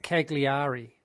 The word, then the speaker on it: Cagliari: And then the capital of Sardinia is spelled Cagliar. I mean, it's just a nightmare. It looks like Cagliari. How do you say it? Cagliari.